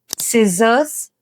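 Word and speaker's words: scissors: ಆದ್ರೆ ಸಿ ಇದ್ರೂ ಕೂಡ ಅದು ಸೈಲೆಂಟ್ ಆಗಿರೋದ್ರಿಂದ ನಾವ್ ಅದನ್ನ ಪ್ರೊನೌನ್ಸ್ ಮಾಡ್ತಾ ಇಲ್ಲ. ಸೊ ಇದನ್ನ ಕರೆಕ್ಟ್ ಆಗಿ ಹೆಂಗ್ ಪ್ರೊನೌನ್ಸ್ ಮಾಡ್ತಾರೆ ನೋಡಿ. Scene, ಸಿಸರ್ಸ್, muscles, science.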